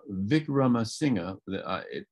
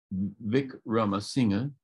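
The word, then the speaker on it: Wickramasinghe: Sri Lankan called Chandra vikrama singer it starts with a w but they pronounce a w like a v in the same way the Germans and the polls do Vic Roma singer all the Sri Lankan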